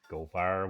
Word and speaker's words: Goldfire: not there this time goldfire went the other way and he died and if you don't say it goldfire like the crackers the goldfish crackers here in america then you're saying it wrong there's a line of